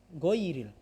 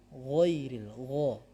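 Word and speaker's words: غير: Juga bukan goiril, bukan, akan tetapi ghairil, ya.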